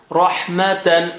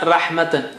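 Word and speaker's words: رَحْمَةً: Rahmatan, ra. It is not rahmatan. Ra is thick.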